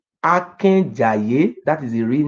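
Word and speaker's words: Akenzae: This is meaning that the correct pronunciation is Oba Akenjaye.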